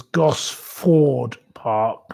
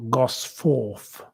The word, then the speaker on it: Gosford Park: It was Gosford Park, not Gosforth.